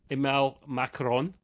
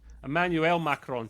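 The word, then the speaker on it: Emmanuel Macron: This time the game was also praised by French president Macaron. Look at that. I've butchered his name and I can normally say Emanuel Macarron, thank you.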